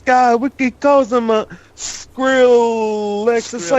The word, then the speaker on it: Skrillex: We calls him a Skrillex. It's like it rhymes with Rolex.